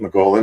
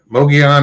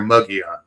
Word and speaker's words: Mogollon: Mongolian. Mongolian, yeah. Mongolian. Yeah. Mongolian monster. Locals up there either say Mogollon or Mugion.